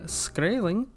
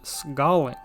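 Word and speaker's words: skræling: names of the americas i've seen many say that it would pronounce similar to skrailing but it's also possible the pronunciation was closer to scalling even though they used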